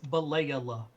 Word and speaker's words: Balayla: Balayla, it's Balayla. Balayla, not Balayla. It's 4 syllables, not 3.